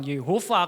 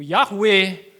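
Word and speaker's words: Yahweh: tahu ada yang bilang Yehova kalau secara tekstual itu Yehova secara tradisi itu yahwe ya toh yang pasti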